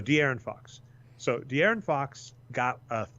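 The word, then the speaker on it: De'Aaron Fox: in here and yeah they emphasize that first syllable deer in Fox that's the D okay so d Aaron Fox so the Aaron Fox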